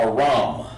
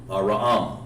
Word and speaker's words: Aram: Not A, it's Ra-am. Aram. Okay? And his biblical name is Aram. Okay? And of course, his the way you pronounce that is Aram. Just like that. Aram. Not Aram, but Aram. You have to give that A the full H sound over there.